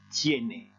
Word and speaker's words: tiene: e de pied mais il faut faire attention en espagnol il n'y a pas de e muet tous les oeufs se prononce et donc ici on doit dire tiéné ensuite d'embêter et où